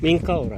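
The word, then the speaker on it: Menkaure: Minkaura. Yeah. Minkaura Macarena. Yeah. What's completely different? Minkaura to Macarena is no.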